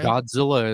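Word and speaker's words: Gahdzilla: that on bandcamp okay godzilla is spelled g-a-h-d z-i-l-l-a still still says phonetically godzilla motor company but the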